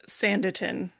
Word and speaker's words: Sanditon: So It's like Sandy Town. Think of it, right? It's a town built on sand. Anyway, I can go more into Sanditon.